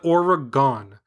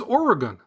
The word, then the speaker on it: Oregon: Today, in your Bigfoot podcast, you, like most non-Oregonians, said Oregon. And when we hear that, we cringe. Smiley face emoji. The correct pronunciation is Oregon, with the emphasis on the first syllable.